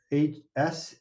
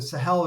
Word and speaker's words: Sahel: do you spell it? The Sahel, Sahel.